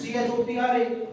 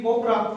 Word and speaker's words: Chopra: Instantly I say, "Sir, you just told me CH always sounds ka, and your name is CHOPRA, should be Cobra. Why it is Chopra?"